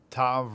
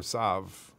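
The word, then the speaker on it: תו: It's like saying, is it Tav or Sav?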